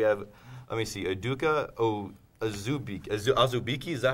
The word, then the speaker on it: Azubike: All right, we have, let me see, Udoka Azubike, is that how you pronounce it? Yeah. Azubike, yeah.